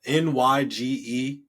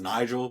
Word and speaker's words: Nyge: not Nyge. My name is Nigel, but I spell it with a Y, so it's Nyge.cooks.